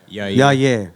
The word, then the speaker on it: Yair: Going back Yair, or is it yeah? I always say yeah. Yair. Yair. I thought everyone else was saying it wrong.